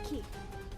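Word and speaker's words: 木: The kanji for tree can be pronounced as ki. That's just one way to pronounce it. Let's see if it works. I believe the other pronunciation is Moku.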